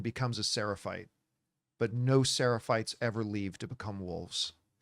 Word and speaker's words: Seraphites: I know I'm mispronouncing it, but I'm just going to go with the word Seraphis for whatever. They call them the Scars. but Seraphites. Seraphites, right? Seraphites, yeah.